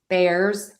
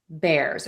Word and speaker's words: Bears: And then Bears is one syllable, so that gets the stress. Bears, Bears. We're going to use that air sound there. We're not going to say ear, it's air.